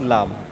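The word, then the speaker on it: لِ: পড়ি লাম জবর লা লাম জের লি লাম পেশ লু লা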